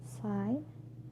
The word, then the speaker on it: sign: So letter G can be also silent too. For example, sign, champagne, design, foreign. Sign, champagne, design, foreign. All these examples have a silent G, and the combination of